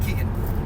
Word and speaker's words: Keagan: It's spelled like Reagan, but you pronounce it Keegan.